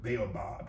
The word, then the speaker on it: baobab: but The Baobab tree b-a-o bab okay that's how that's how we pronounce It in America bail Bob tree but the um